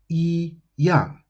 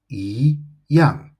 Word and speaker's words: 一样: Now, in the dictionary, you will see this as yíyàng, but actually it should be pronounced yíyàng. And this is according to the tone Sandy rules as mentioned on page 7, Unit 3.3.